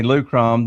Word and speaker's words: Lukrom: So just so everybody knows what we're saying, Lukrom, that's spelled Lukrom, Lukrom, yep.